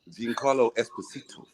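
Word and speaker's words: Giancarlo Esposito: you don't he he get upset car Esposito G Carlo Esposito oh he he did tell that like you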